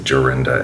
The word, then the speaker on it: Jorinda: When I was young, of course, I didn't understand how the European J is pronounced, and so I thought it was Jorinda and Joringel. But now that I know better, I will be pronouncing it in the correct German way.